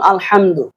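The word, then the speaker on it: الحمد: একটা শব্দ বলছে যেমন আলহামদু এখানে বড় হা আছে ছোট হা বলছেন আলহামদু এই হা এর পরিবর্তে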